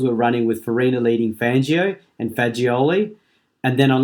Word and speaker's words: Fangio: I can only say that Fangio is actually pronounced Fangio.